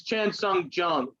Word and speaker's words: Chan Sung Jung: It's Chan Sung Jung.